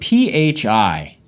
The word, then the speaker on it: Phi: and there's a word pH I and it's pronounced Phi like fly like fi and it's kind of